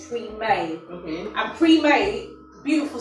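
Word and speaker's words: Premae: But the way I pronounce it is pre-May.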